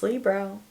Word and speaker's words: Libro: I've been pronouncing it Libro. It's Libro. Like Libra, love a Libra.